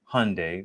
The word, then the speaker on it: Hyundai: It's all Hyundai, rhymes with Sunday.